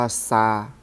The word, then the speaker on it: 沙: นี้ วัน เสาร์ นี้ นะ ซึ่ง อ่าน ว่า ซา หมาย ถึง ทราย ซึ่ง ประกอบ ด้วย อ้า หมวด